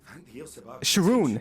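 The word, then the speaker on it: X'rhun: Sharoon. Sharoon Tia. Spelled with an X.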